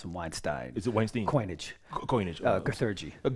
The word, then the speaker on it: Weinstein: to make light of this but you did pronounced some Weinstein is it Wednesday coinage coinage Sergey it's Weinstein